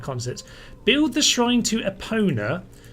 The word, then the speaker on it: Epona: Build the shrine to Epona, as opposed to Abona, which is a slight mispronunciation, it should be said.